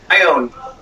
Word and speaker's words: Ione: Ione.